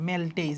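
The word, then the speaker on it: maltase: মল্টেজ মল্টেজ ঠিক আছে ইংলিশে হবে এরকম বানানটা মেলটেজ যদিও উচ্চারণটা হচ্ছে মল্টেজ ঠিক আছে তাহলে আমাদের লাল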